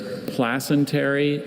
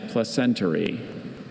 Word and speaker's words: placentary: There's placentary and placentary.